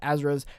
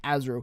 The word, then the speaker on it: Azure: has already done with Azure on both AI and cloud, as well as Sony's. That's not how you say it. It is Azure. No, it's wrong.